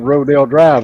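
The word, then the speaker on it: Rodeo Drive: Same reason they have Rodale Drive in California, and it's spelt like rodeo.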